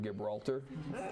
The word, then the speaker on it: Gibraltar: And I think it's pronounced Gibraltar, not Gibraltar.